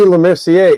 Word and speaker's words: Lemercier: Lemercier is spelled A-E, obviously.